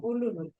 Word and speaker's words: Uluru: And And so you're pronouncing Uluru, Ulu? Uluru. Uluru. Yulara is the name of the town, but Uluru is the Aboriginal word for it, Uluru.